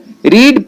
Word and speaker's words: read: पहले फॉर्म में है, इसीलिए हम लोग रीड का दूसरा फॉर्म रेड लिख देते हैं। और हम जानते हैं कि रीड का पहला फॉर्म का भी स्पेलिंग वही होता है और दूसरा और तीसरा फॉर्म का भी स्पेलिंग वही होता है, केवल हम पढ़ते हैं इसको रेड है, स्पेलिंग वही